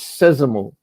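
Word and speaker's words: sésamo: It's sad because the accent tells you where to put the emphasis in the word. So that's why I love accents in Portuguese. At least I know how to pronounce that word because the accent's there. Although I might get the O wrong, but so I know it's sesamo.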